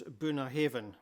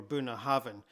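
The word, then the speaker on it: Bunnahabhain: The northernmost distillery on Islay is Bunnahaven or Bunnahaven. This means mouth of the river. This BH together in Gaelic is pronounced as a V sound.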